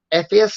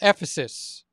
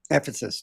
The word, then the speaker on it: Ephesus: going to head to Ephus. Is that what you call how you pronounce it? Maybe I'm pronouncing it wrong. Yeah, I I think it's called Ephesus. Ephesus. That's right.